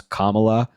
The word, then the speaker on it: Kamala: to inform everyone that kamla's name is pronounce Kamala like Kam yeah exactly I we